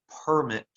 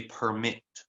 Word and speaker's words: permit: So you stretch out the E sound more than you stretch out the I sound.